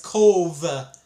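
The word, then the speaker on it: Cobh: So, like a lot of people don't know how to pronounce it, but it's C O V E technically.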